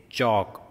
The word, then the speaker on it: chalk: It is chalk. L is silent, and it is ch sound, chalk.